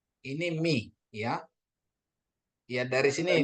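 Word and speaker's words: μι: Oke, ini alfa, beta, gamma, delta, epsilon, zeta, eta, theta, iota, kappa, lambda, Mu. mi, mi, ya bacanya mi. Ini mi, ya.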